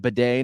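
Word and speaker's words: Badie: We found out that he pronounces it Bidet now, but he wasn't.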